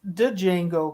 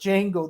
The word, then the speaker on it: Django: of done with it it's dejango crazy man he's mad at me he goes it's just django the d is silent